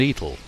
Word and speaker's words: Etal: off for Ford and Etal, or as locals pronounce the two villages, Ford and Etal.